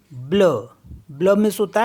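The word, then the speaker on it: bleu: मीस होता है little B एल ई यू ब्ल ब्ल मीस होता है ब्लू एफ ई यू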